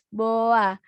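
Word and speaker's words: boğa: Cara eja boa gimana, Kak?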